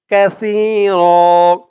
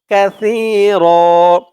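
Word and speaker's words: كثير: গুন্না করতে হবে জুলমান কাসির কাসির এখানে কাসি বলা যাবে না বলতে হবে কাসি কারণ আরবিতে এখানে ছা আওয়াজটা একদম নরম পাতলা করতে হয় জিহ্বার মাথা উপরের দাঁতের মাথার সাথে লাগে সার উচ্চারণটা করার সময়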